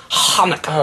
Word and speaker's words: Hanukkah: not a CH sound it's not an H sound it's Hanukah oh stop it Hanah